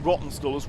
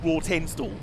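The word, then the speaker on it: Rawtenstall: through that entire video pronouncing rotten stores raw tin stall as the first time i looked at it i was like raw that can't be it luckily on the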